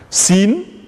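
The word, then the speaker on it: سين: Sin, la lettre Sin se prononce exactement comme une province du Sénégal.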